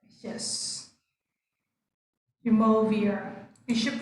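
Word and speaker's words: Umuofia: Muovia or Jumovia? How shall we pronounce that one? Okay, that is the name of the forest, right? Yes. Jumovia. We should pronounce Jumovia.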